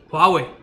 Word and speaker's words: Huawei: Listen to how they call it. And they will say Xiaomi, Huawei.